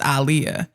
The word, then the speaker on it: Aaliyah: people don't know that her name is pronounced alah really now that one